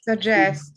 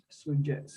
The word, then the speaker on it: suggest: Suggest, yeah. Suggest. Mm, Suggest. ujú. Suggest. Ahí ellos lo pronuncian como para nosotros Y.